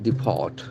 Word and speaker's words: depart: Depart. Deport. Okay, depart. Since it is a verb, the accent falls on the second syllable.